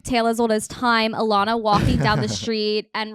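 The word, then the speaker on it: Ilana: Alana walking down the street and realizing that her name rhymes with Madonna and Rihanna.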